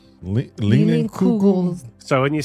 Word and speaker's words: Leinenkugel: Lienenkugel? It's LEINENLIUGELS. Why would you even try? Oh no, that's K. KU. Leinenkugel. Leinenkugel.